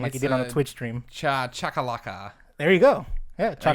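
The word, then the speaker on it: Chacalaca: Chakalaka. There you go. Yeah, I got it? Chakalaka.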